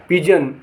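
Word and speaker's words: pigeon: माने कीटाणु पी आई जी ई ओ एन पिजन पिजन माने कबूतर जी आई एस टी जिस्ट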